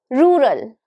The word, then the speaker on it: rural: Now it has two syllables. Rural. Rural. And the stress. Can you recognize the stress? Rural. Rural. So the stress is on the first syllable. It's on ru. So whenever you are speaking, you have to give the stress on ru. And you have to say rul with a slow pace or very lightly.